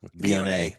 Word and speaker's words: Viognier: Pine Ridge Chenin Blanc and how do you pronounce that? Viognier? Viognier.